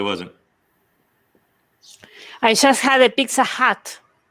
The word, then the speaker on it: Pizza Hut: I just had a Pizza Hut. A Pizza Hat? Pizza Hut. H-U-T. I'm H-U-T. sorry, I'm pronouncing it wrong.